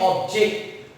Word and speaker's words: object: जब हम इसका प्रोनाउंसिएशन करते हैं ऑब्जेक्ट, तो इसका मतलब होता है मकसद।